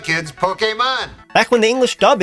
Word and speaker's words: Pokémon: Pokemon Parody first right off the bat they pronounced Pokemon correctly that's right kids Pokemon back when the English dub itself was barely